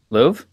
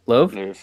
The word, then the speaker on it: Lowe: the tournament did you call them lo loo Louvre what is it Lowe yeah Liv all right pronunciation police thank you for that all right